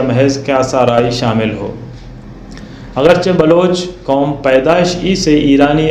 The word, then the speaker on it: بلوچ: جو قطعاً غلط ہے۔ اس لفظ کا صحیح تلفظ بلوچ ہے، یعنی اس کے حرف اول بے پر زبر یا فتح ہے، تیسرا حرف واو مجہول ہے، اور چوتھا حرف 6 ساکن ہے۔ لیکن دوسرا حرف لام